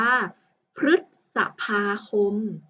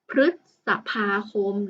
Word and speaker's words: พฤษภาคม: นะ คะ คำ นี้ ตัว รึ นะ ครับ ประสม กับ พยัญชนะ ที่ เป็น ตัว พ. พาน คำ นี้ นะ คะ อ่าน ว่า พฤษภาคม พฤษภาคม นะ คะ แล้ว ก็